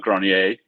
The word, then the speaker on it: Grenier: own last name, but Grenier is the French pronunciation. And I'm told that means attic or granary in French, Emmerich.